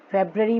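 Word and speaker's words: February: इधर पढ़ेंगे जनवरी, फेब्रुअरी, फेब्रवरी में भी देखो आर बीच में साइलेंट है, फेब्रवरी नहीं बोलते हैं, फेब्रवरी, फेब्रवरी, मार्च, अप्रैल, मार्च में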